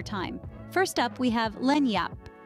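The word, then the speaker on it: lagniappe: first up we have lenyap this word pronounced lanap is a little something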